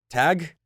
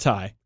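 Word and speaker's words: Tadhg: about this guy T tag tag Ty what Ty it's an Irish name it's pronounced Tai he had a really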